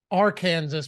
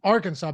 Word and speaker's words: Arkansas: for me why is there Kansas and then are Kansas but it's pronounced Arkansas I have no idea I've never heard anybody pronounce Arkansas differently though no no Arkansas is pronounced Arkansas but I'm saying it's literally our Kansas oh